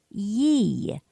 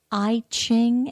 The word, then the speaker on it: I Ching: people say it's the I Ching, and then it's just an I and C-H-I-N-G. Well, the Yi Ching pronunciation is just a bit more Asian in its influence, and the I Ching, of course, is how